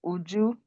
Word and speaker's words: Uju: Uh Lady Oju, can you read read this one? I hope I'm pronouncing your name right. No, sir. So, help help correct me. My name is Uju.